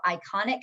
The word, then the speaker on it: iconic: what we see and although it's not spelled the same way when you say iconic it sounds like I so that might make